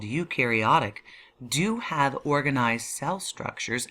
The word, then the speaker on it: eukaryotic: structures and a nucleus you meaning true Carrio meaning nucleus so eukaryotic means true nucleus you can remember it because you rhymes with true or new you're going to have